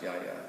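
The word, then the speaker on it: Γιαγιά: So this is from Yaya, and it's spelled G-A-I. But the Y-I-A is how you spell Yaya in Greek as well. That means grandmother. Oh yeah, cool. So it's the Y instead of the G, but it's pronounced Yaya.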